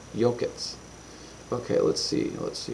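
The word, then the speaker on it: Yokuts: Yokets.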